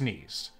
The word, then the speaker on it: niece: My dearest niece, or niece, as it's typically pronounced, thank you for sending me your potion.